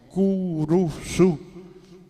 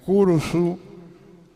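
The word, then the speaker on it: curusú: pronunciar dos consonantes seguidas la cruz se transformó en curusu porque le intercapa la u entre la c la r y la r nuevamente antes de la z final y así tenemos curusu en vez de Cruz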